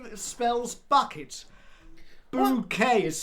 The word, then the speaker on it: Bucket: Bouquet, the resident of the Go on, in it. Mrs. Bouquet It's written bucket, but it's pronounced bouquet.